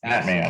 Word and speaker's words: Mattmann: So, but does it rhyme with Batman? You know, I've heard it all. Okay. Well, it's Mattmann or Mattmann. That's either one is Mattmann.